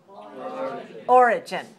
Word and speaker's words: origin: Remember, some of you were having trouble putting the stress on the first syllable, and you tried to put the stress on the second syllable. If you put the stress on the second syllable, you will be mistakenly pronouncing it something like this. So make sure you have origin.